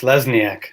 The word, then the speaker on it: Lesniak: Please welcome to the show with me, and it's Lesniak. Make sure I pronounce that correct. I probably butchered that a little bit. How'd I do? Close. Lesniak.